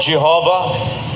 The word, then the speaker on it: Jehovah: While inclining to view the pronunciation Yahwe as the more correct way. We we have retained the form Jehovah because of people's familiarity with it since the 14th century.